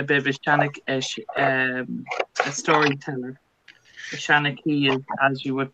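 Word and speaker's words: seanchaí: A Shanachie is, as you would pronounce it in Irish.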